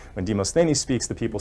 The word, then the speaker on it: Demosthenes: demonstrates or a friend told me it's actually pronounced demosthenes when demosthenes the people say let us march so how